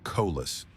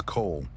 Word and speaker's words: Cole: He deliberately mispronounced the name, making it sound like Colas. Elias ignored the slight, his posture a study in calm. My apologies, Your Honor. The name is Cole.